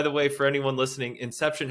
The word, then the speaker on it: INXEPTION: way for anyone listening Inception has an X in it it's pronounced Inception just so you don't